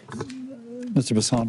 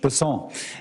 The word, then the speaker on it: Bessent: Bessent, I'm always going to pronounce your name as if it was in South Louisiana, and I'm going to pronounce it with a French Bessent as opposed to Bessent.